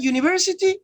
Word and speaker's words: university: you the vowel you but when you pronounce this word it doesn't start with a vowel you don't say university you don't say university you say university you so you're producing a consonant you you you so you're producing